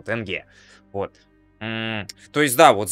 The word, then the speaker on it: тенге: мы неправильно произносим ты тенге вроде до ударение на первый слог это запомнил тенге вот то есть да